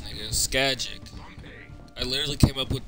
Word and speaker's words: Scagic: Skagic.